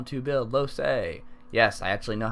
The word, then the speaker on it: Lohse: showing a updated guide on how to build low say yes I actually know how to say her